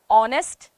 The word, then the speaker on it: honest: the real pronunciation is honest okay h is silent there are silent letters